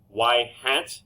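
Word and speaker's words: ŷ: results future outcomes regression line has a form y-hat equals a plus b it is pronounced it is said y-hat it is the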